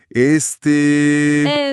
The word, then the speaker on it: este: Pero la clave es que no se dice rápido. Tienes que estirar la última vocal. Así. Este, este es el salvavidas perfecto cuando pierdes el hilo.